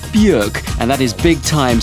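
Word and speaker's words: Björk: the new one from bjork what a year for that lady bjork or bjork pronounce it how you like apparently she prefers the buick and that is big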